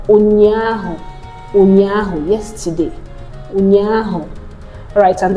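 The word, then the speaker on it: ụnyaahụ: That's pronounced, there's no English equivalent, so it's pronounced as O, O, O, O.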